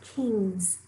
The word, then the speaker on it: kings: And that's just like the ending ing. I-N-G, ending kings with a Z sound at the end that we know it's not spelled with a Z, but it is spelled with an S.